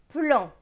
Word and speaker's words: plan: PL. PL c'est pleu avec le AN. AN c'est en. Pleu et en. Plan.